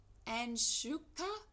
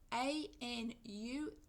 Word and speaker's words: Anushka: Number 15, Anshuka Gupta, sorry for the mispronunciation, Anushka, age 4, country, India, Uttarakhand, Uttarakhand.